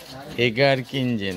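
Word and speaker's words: Egerkingen: এই আমাদের হোটেলের নাম, হোটেল এজ অ্যাকিংজেন। এগার কিনজেন, হ্যাঁ এটাই উচ্চারণটা ভালো হবে, হোটেল এগার কিনজেন, হোটেল এগার কিনজেন।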